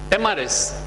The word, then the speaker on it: Mrs: Alright, when does this Miss become MRS? After marriage. We write MRS, we pronounce it Mrs., but the full form of Mrs. is mistress. And mistress has two meanings in the dictionary.